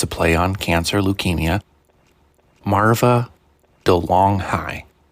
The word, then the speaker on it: Marva DeLonghi: Marva DeLonghi, not DeLonghi or anything like that. The correct pronunciation is Marva DeLonghi.